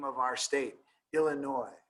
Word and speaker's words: Illinois: name of our state Illinois right ill Illinois right like why don't we pronounce the s in Illinois because it's French right and all these